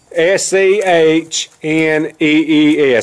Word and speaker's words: Schnee's: S-C-H-N-E-E-S. I think it's Schnee'S is proper.